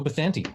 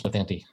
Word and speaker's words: Bathanti: You know what, too, and you pronounce my name right, so I like you so much for that. Well, that's the Spanish pronunciation. I get I can't pronounce Colorado, but I can pronounce Bathanti.